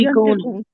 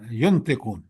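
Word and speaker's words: ينطقون: بول سکیں گے۔ سر سر جی ایکسکیوز می، ینتقون، ینتقون ہے۔ ساری ینطقون، اب وہ بول بھی نہیں سکیں گے۔ ینتقون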